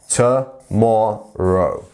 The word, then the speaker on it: tomorrow: and our full stop this one is our stressed syllable tomorrow tomorrow not tomorrow tomorrow wouldn't be right it sounds like a funny name in a in a TV show tomorrow not tomorrow it's tomorrow you see so just keep practicing that sound so to more row great fabulous so incorrect